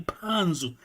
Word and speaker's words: Panzo: Nossos nomes, é melhor pronunciar bem, é mesmo Panzo, é MP.